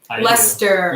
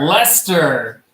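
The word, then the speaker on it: Leicester: UK you remember how to say this one Lester Lester yeah no for the Americans in the chat Lester is the UK city that we've all been pronouncing Lyster it's actually pronounced Lester we found this out recently or like history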